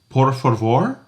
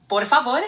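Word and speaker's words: por favor: So please is porvo. Exactly. Porav is how you say please.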